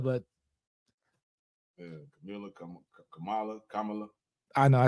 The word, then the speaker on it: Kamala: but meanwhile nobody has even attempted to get Camila but Kamala Kamala I know I said the name wrong I butchered it yeah but uh like